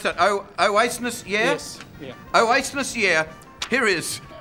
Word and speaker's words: Oasis: how do I pronounce that? Oasis, yeah?